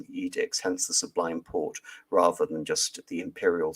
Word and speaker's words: Porte: And in 1805, reluctantly, the Ottoman Sublime Porte, again, Sublime Porte, port, literally the French iteration of gate, where the edicts of the Ottoman Sultan are pronounced.